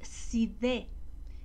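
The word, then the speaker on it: Sídhe: o montículos son llamados Side que se bueno así se escribe cité con ehe pero se pronuncia si una alusión a la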